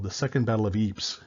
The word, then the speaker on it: Ypres: the Second Battle of Ypres. Yes, it's pronounced Ypres. It's French. It doesn't have to make sense.